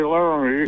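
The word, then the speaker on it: Laramie: out okay but I know better than to use three syllables when I say laramy yeah and I know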